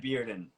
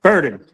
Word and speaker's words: Burden: Brad Bearden. Barden. Burden. Did I pronounce you correctly? Burden. Burden. Awesome. Nobody pronounces my last name correctly ever.